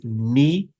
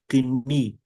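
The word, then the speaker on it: Knie: Like the first word is ni. In English, the sound is same, ni. But in German, we pronounce it kni. We also pronounce the first letter K, which is silent in English, in modern English.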